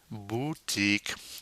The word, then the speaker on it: boutique: by then we have une boutique now remember the French you is not a you it's a boo and to do that we go e keep that e sound going and making with your mouth ye mmm boutique a shop usually